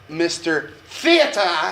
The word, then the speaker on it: Mr. Theater: It's pronounced Mr. Theater.